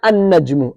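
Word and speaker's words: النجم: And I've skipped these two letters, brothers. Yeah, notice? Yeah, an najmu. An najmu. Sorry, I skipped the lam. I didn't pronounce the lam.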